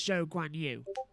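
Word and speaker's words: Zhou Guanyu: and it's just his when you say his name in full it's joe guanyu so it's still joe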